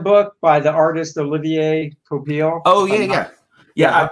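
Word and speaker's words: Olivier Coipel: book by the artist olivier topil oh yeah yeah how i used to pronounce it oliver coppole like just the the worst pronunciation that could be oliver i know i know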